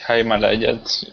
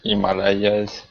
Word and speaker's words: Himalayas: Yeah, the pronunciation of Himalayas is Himalayas, Himalayas, Yeah, the Himalayas.